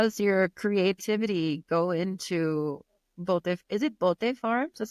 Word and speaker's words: Bota: Well, one of the questions was how does your creativity go into bote? Is it bote farms? Is that how you Bota. pronounce it?